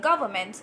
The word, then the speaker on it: government: Yeah, so because you know what people do, people try to pronounce this N in here, and that will, they would call it like government. No, you don't, like, it's quite simple, like government.